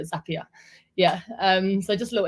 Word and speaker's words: Zapier: introduction into Zapier, or Zapier, as I like to call it, because, well, I just thought that was how you say it. But then obviously Zap means like zip quickly, isn't it? So Zapier.